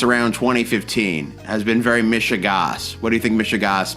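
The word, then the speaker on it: mishigas: m i s h i g a s mishas mishas I think I pronounced it right yeah yeah you did that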